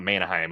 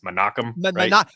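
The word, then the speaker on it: Menahem: how do we pronounce it's not Manheim. It's it's Manakim Manakam Gol.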